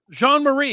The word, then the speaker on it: Jean-Marie: And then the inside guy, Jean-Marie, that's how you say it, Jean-Marie? Jean-Marie, yeah.